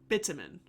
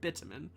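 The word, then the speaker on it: bitumen: Um, bitamin. That's what I'm saying. I'm not saying a D. If it sounds like I'm saying a D, I'm not. I'm saying bitamin.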